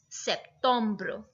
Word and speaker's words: septembre: But the pronunciation is absolutely different. So September is septembre.